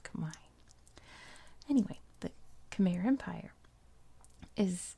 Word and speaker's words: Khmer: like that so i'm going to stick with khmer because i'm american and i'm going to stick with american pronunciations but know that for the most part it's pronounced kamai anyway the khmer empire is incredibly powerful they